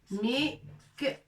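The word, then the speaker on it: مكواة: Mikwatun. Avec alif bien sûr.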